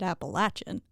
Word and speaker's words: Appalachian: and the teacher was like Appalachian and I raised my hand so fast and I was like um Excuse Me Miss it's actually Appalachian I bet she like no it's not you dumb it's Appalachian and I was like I lived there and we called it appalachin so yeah I'm going